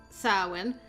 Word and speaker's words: Samhain: about this let's see samhain usually pronounced as sarwin is an ancient holiday